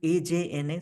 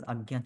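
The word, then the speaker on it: Ajna: Spelling is a ja. So some people uh actually pronounce aja but actual Sanskrit pronunciation is agya chakra. You can write a na pronounce it as agya chakra.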